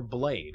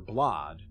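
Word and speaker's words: Blaidd: She wanted us to join her retainer Blade, or Blod. Blide? I think Blide is the correct pronunciation.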